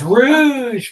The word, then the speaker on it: Rouge: But it's Rouge Group, not Rogue Group. It's not the DND character spec.